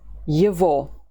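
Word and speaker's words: его: say it ye vo the letter o is stressed so it's strong and we say o ye vo tried several times how to say his phone ye vo telephone his job the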